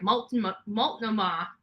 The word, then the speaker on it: Multnomah: how to pronounce this mulch no ma that doesn't sound right Multnomah County District Attorney's Office